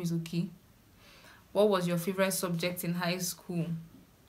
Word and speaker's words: Oki: My middle name is Oki, just a 3-lettered name. O-K-I, simply like that. It's very easy to pronounce. It's okay.